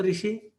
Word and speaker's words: ऋषि: सर हम हमारे यहाँ पर री बोलते हैं, री री ऋषि। उत्तर भारत में री ऋषि है, दक्षिण भारत में अगर कर्नाटक से आप तो रू बोलते हैं, रू बोलते हैं, ऐसा उच्चारण मिलेगा।